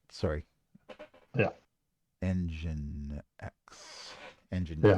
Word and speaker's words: nginx: Yeah, Engine X. Engine yeah, X. Gotcha. Gotcha. that's how it's spelled.